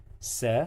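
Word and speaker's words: س: So, sa, you don't forget, this letter sounds like letter S in Arabic. In English, with this mark on the top, it sounds se, se.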